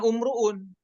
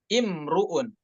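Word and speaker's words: امْرُؤٌ: Nah, adapun ketika kita ingin memulai pada kata imruun, bacanya bukan umruun ya, namun dibacanya dengan imruun ya. Nabda bihamzatin maksurah, yaitu kita mulai dengan hamzahnya kasroh, bukan dhammah. Dan juga wanulahidhu dhammur ra,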